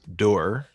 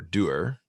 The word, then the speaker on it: Dorr: I'm your host Gio, and today I have a special guest, Dorr, or Doer, depending on what part of the world you're from. You may pronounce it differently.